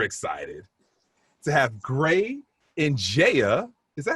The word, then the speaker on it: Ndiaye: i am super excited to have gray and jaya is that how you pronounce it in jaya is that right that is how you pronounce